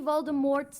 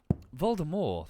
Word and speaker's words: Voldemort: Voldemort all over again apparently Voldemort's name is French so it's supposed to